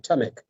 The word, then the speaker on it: Tamek: Tamek. Tamek, okay.